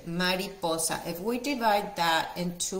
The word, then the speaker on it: mariposa: in Spanish is Mariposa so listen to my pronunciation Mariposa if we divide that into words it's like